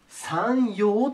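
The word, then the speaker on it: 山陽: 北の方をこの感じで 3 陰と言います 3 陰ねで逆に南の方下を 3 用と読みますいいね 3 陰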